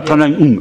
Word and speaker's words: Tran Anh Hung: Tranung. Je prononce bien votre nom. Tranung. Voilà, Tranung.